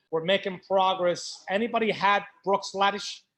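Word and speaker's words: Bruichladdich: making progress anybody had brook sladdish brook sladdy it's the correct pronunciation brooks ladies you had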